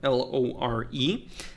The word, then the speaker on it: lore: and the word lore l-o-r-e and then I I thought of how Brits and other I don't know if Australians do that too they they pronounce lore like law they'll still pronounce lore